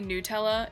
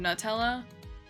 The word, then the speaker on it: Nutella: You know, most Americans say Nutella instead of Nutella.